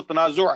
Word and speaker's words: تنازع: عربی میں جو اس کا تلفظ ہے وہ تنازع ہے، تنازع نہیں ہے.